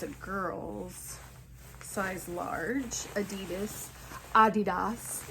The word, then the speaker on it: Adidas: Adidas is actually the correct pronunciation according to Bob Buys.